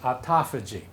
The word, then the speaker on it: autophagy: here which looks like autophagy but is actually pronounced autophagy okay autophagy is the process of of the cells consuming